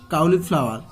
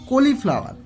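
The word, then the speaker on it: cauliflower: কলিফ্লাওয়ার যাকে বলা হয়, লেখার সময় কাউলি লিখবে CAU কাউ, LI ক্লাউলি ফ্লাওয়ার, FLOWER কাউলিফ্লাওয়ার। হয়েছে, ইন উইন্টার। হয়েছে, উইন্টার। এবার এই লেখার সময় আমরা ভেঙে লিখবো কাউলিফ্লাওয়ার। ঠিক আছে, কিন্তু উচ্চারণের সময় কি বলবো কলিফ্লাওয়ার। ঠিক আছে, চলো তাহলে তারপরটা করি।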